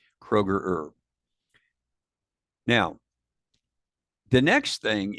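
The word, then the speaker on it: Kroeger: from a company called Kroger herb but it's not spelled like the grocery store it's k r o e g r Kroger herb now the next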